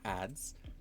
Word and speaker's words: ADs: Abbreviated as AD and referred to in the common conversation as AD or ADS pronounced ADS.